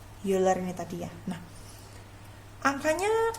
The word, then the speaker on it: Euler: Tulisannya Euler, bacanya Euler gitu ya biar keren.